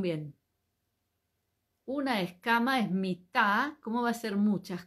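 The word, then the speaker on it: מיטה: Cómo se dice cama se dice mit m i t a cómo se va a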